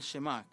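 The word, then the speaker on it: שמע: Deuteronomio 6 Deuteronomio 6 Este es el shim se llama aquí mis amigos judíos me están corrigiendo mi pronunciación hebrea Deuteronomio 6:4 al 5 Qué es el shemak dice escucha Israel el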